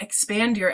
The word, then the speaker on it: Expandur: exactly those letters spelled I'm like expand your LLC like I'm thinking expand your LLC and it is right but you don't spell it that way it's X panned you are are like the text shortcut for your LLC I love it thank